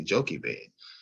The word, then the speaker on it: Jochebed: Well, in America, we may say Jochebed, but over in the original, which would have been in Africa, in Egypt, it would have been pronounced Ibed.